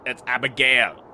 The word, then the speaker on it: Abigail: It's Abigail. The stress is on Gail, but doesn't matter.